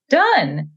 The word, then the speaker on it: done: yeah but don't is not how we say done it's done so that's one of those tricky